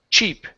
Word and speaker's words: cheap: Now, when we get to this word here, instead of sheep, it's ch cheap. Cheap coffee. Cheap coffee. Chip coffee.